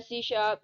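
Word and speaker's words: C#: pronounce है सी शार्प इज a language developed in 2000 में इसको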